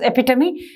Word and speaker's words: epitome: The pronunciation is epitome and the meaning is perfect example.